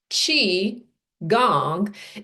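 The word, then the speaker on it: qigong: Chiang, pronounced chi gong is essentially a practice that combines three elements.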